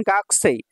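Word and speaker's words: 学生: আছে ইনশাল্লাহ তারপর দেখেন গাকসেই গা কু সেই গা কুসেই কু কু কুটার উচ্চারণ হবে গাকসেই গাকসেই গাকসে সিনোনিমস হচ্ছে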